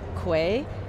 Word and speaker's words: Quay: We used to argue about Quay. I always called it Key, of course.